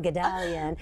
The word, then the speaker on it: Guldalian: So I'll just keep going, Guldalian.